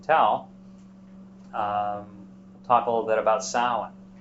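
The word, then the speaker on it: Samhain: a little bit about Salan the MH is uh a w sound it can also be a v s-a-m-h-a-i-n is the usual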